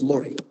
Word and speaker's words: Mouret: In 1987, Philip Moret, Mouret, we pronounce Moret.